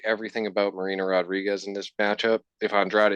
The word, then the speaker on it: Rodriguez: It is Rodriguez. It's a Brazilian thing. Someone came up to you and they were like, "Hey, Herod, what's up?" You know, because the J sound makes a H sound in Spanish.